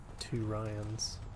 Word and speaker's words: Turians: i'll be okay okay turians i hate how how it's said versus how it's spelled t-o-o versus t-u-r two ryans place your bed on